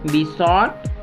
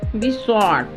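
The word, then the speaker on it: besought: होता है प्रार्थना करना बी सॉर्ट बी सॉर्ट जब कभी जी एच बीच में आ जाते हैं किसी भी वर्ड में तो वो साइलेंट हो जाते हैं बेस्टो बेस्टो का मतलब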